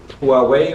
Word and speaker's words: Huawei: You've got 2 inverters over there, Solex You got two inverters over here, Huawei, or how you pronounce that.